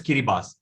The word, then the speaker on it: Kiribati: Now it is spelled as Kiribati, but the TI is pronounced as an S. So this particular country is called as Kiribati.